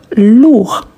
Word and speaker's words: lourd: Donc quand on dit lourd, on ne prononce pas le d.